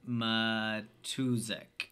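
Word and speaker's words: John Matuszak: know I don't know played by Mr John matusic yes that's how you say his name the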